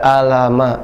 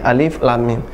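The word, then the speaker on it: الم: Kalau huruf tunggal, misalnya alif, lam, mim, tidak alama, tapi alif, lam, mim.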